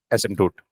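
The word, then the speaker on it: asymptote: as s simp tote ASM toote we don't pronounce p it is ASM toot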